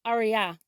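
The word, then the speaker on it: אריה: In Hebrew, lion is pronounced aryah, aryah.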